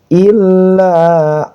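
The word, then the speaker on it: إلا: Tapi kum illa ilanya bertasydid ditahan. Eh bukan ditahan, maaf. ditekan kemudian panjang dua harakat illa aza dza ujung lidah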